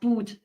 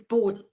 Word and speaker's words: Boot: Yeah, it's driving me crazy when people say it does boot. It's boat.